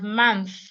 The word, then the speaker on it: month: and the th ma month this has th as well month it doesn't have th So when you say happy new month this is what you're